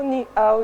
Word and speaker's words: Ninao: Voilà, c'est la chanson Ni Ao des Maîtres Gims juste après ça.